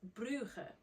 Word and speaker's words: Bruges: Bruges. Or you can also pronounce it Bruges.